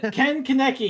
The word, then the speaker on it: Ken Kaneki: say It's Ken Kaneki. He said my second name. It's spelled- And Kaneki, dude.